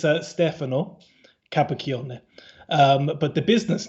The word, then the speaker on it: Stefano: offered just to say it so it's uh stefano um but the business name is uh a lot easier to pronounce and that's puck creations um and uh